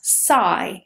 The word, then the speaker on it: psychology: For example, I'm a psychologist, but it's not C, it is psi. That beginning, PSY, is always psi in English. Psychology, psychotherapist, psychotherapy, psychologist, they're all with psi.